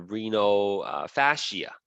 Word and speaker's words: renal fascia: not mention earlier is this thing called a Reno fascia that's how you pronounce it the renofascia is basically a collection